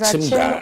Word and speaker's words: Akim Oda: I'd prefer you mention that's very foreign in my ears when people pronounce it Akim. Akim. Okay, so it's Achimda. Akim Oda. So I mean, for you to be accepted by the people of Oda, you say Achimda.